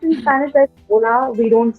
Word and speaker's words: hola: pronounced in spanish that's hola we don't say h yes spell h-o-l-a but h is usually silent in spanish so you don't say the sound huh and so you say ola but the the letter